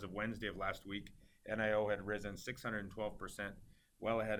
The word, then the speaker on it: NIO: to cover the hot Chinese electric car producer pronounced nio ticker symbol nio trading on the New York